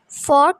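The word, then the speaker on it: fork: कहते हैं स्पून चम्मच फॉक कहते हैं कांटे को फॉक कांटा यहां पर आर साइलेंट है फॉक कांटा फग जलाने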